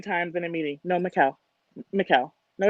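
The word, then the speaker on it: Micelle: my first name is mikael and it's spelled m-i-c-e-l-l-e it's like michelle without the huh um every job every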